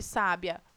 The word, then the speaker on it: sábia: Quem é a sílaba tônica de sábia? O sá.